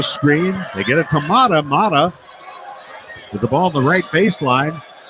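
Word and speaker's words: Mara: Mata, M-A-R-A, but pronounced Mata.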